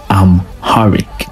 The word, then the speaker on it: Amharic: indigenous to them is pronounced I'm harik and it is widely